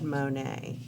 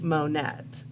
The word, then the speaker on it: Monet: his name is claude monet so if you wanted to look up his pictures like on google his last name is spelled m-o-n-e-t so it looks like monette but it's pronounced monet and he's got some